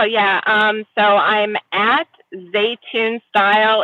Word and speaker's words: Zaytoun: my head yeah it's I always tell people it's it's like cartoon but spelled differently well head over there guys to at zun style and hit her